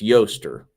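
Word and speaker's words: Ēostre: Actually, that is the pronunciation. It's Yoster.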